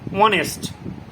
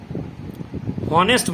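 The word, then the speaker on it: honest: ঠিক তেমনি অ্যান অনেস্ট ম্যান, অনেস্ট এইচ দিয়ে শুরু হয়েছে, বাট এইচটা উচ্চারণ হয় না, অনেস্ট, ও দন্ত নয় একার, তারপরে দন্ত স বা মূর্ধন্য স টয় যুক্ত, অনেস্ট। হনেস্ট বলছি না আমরা, বলছি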